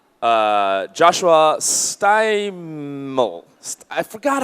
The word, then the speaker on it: Steimle: Steimle, like smiley. All right. Joshua is going to be introducing GOODPATCH for us. Thank you so much. Thank you. So once again, I'm Joshua Steimle, rhymes with timely, and I'm the founder